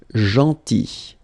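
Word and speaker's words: gentil: Then so remember this final L is not pronounced. Jeanti and it's nice or kind.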